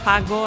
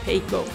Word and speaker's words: Pago: It's pronounced Pago and not Pago. Pago means pay in Spanish, and we're a Spanish-founded bank, and also because FX